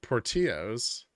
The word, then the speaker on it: Portillo's: PTL is from Chicago it rhymes with armadillos but it's not spelled it's Portillo's Portillo okay that works this